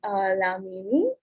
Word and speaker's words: LA.MIMI: Next up, we have LA.MIMI. I'm so sorry. I don't know if I'm pronouncing your name correctly.